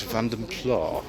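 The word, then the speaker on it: Vanden Plas: Contrast with this ambassador Vandem Plus. do like a nice van pla and that is the pronunciation that they used at the time um with Austin ro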